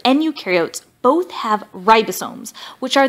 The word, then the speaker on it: eukaryote: So one way I like to tell students to remember this, eukaryote, the U rhymes with do, they do have membrane-bound organelles, and prokaryote, the pro rhymes with no, and they do not have membrane-bound organelles.